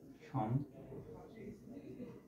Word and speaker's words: সম্বোধন: ঠিক আছে কিন্তু উচ্চারণটা সঠিক উচ্চারণটা হচ্ছে সম্বোধন এভাবে সমধন তোমরা এখন লক্ষ্য করে দেখো যে ম যখন একসাথে আছে তখন ম এরও উচ্চারণ হইতেছে আবার কিন্তু ব এর